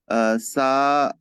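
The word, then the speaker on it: ث: ইস, এটা ইস, অনেকটা সিনের মতো শোনাচ্ছে অথবা সিনের মতো শোনাচ্ছে। সা, সা, সা, আপনি জিভটা, সা, জিভটা অবশ্যই দাঁতের বাইরে বের করতে হবে, জিভের আগাটা সা, দাঁত সা, দিয়ে এভাবে। সা, হ্যাঁ, সা, আগের থেকে উচ্চারণটা সা, সুন্দর হয়েছে।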